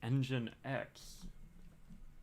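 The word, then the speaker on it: nginx: found out that oh apparently it's pronounced engine X hey I got everything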